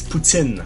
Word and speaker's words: poutine: uh is it okay is it true that poutine is actually the trashy way to pronounce the word and it's actually uh putin it's putin putin okay it's like the the russian prison